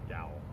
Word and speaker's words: Yowell: It's like towel, but with a Y. Yowell? Yowl.